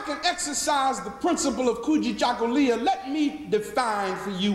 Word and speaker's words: Kujichagulia: And I'd like to reach into those 7 principles and grab one word pronounced Kujichagulia, which means self-determination.